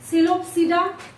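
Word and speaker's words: Psilopsida: इसको जब आप देखना स्टार्ट कीजिएगा, जैसे सिलोप्सिडा, स्फेनोप्सिडा, लाइकोप्सिडा एंड टेरोप्सिडा। P silent होगा हर जगह पे, जहां जहां पे मैं प्रोनाउंसिएशन कर रही हूँ वहां पे क्या होता है, पी साइलेंट होता है।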